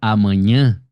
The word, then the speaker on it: amanhã: A palavra amanhã, ela é uma oxítona, né?